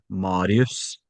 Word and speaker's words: Marius: So in Norwegian it would be Marius.